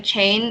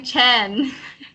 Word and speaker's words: chain: You're still saying Chen. Chain. Chain. Okay, say rain. Rain. Chain. Chain. Yeah. It seems like you always say that sound.